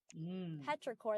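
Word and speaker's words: petrichor: Petraore. That's how that's how you pronounce it.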